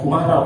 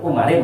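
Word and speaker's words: عمر: Bacanya Umar ya, karena ini isim ghairu munsharif. Isim ghairu munsharif itu kan ketika dalam keadaan i'rab jar itu dengan fathah. Itu isim ghairu munsharif. Jadi enggak boleh dibacakan Umarin, enggak boleh.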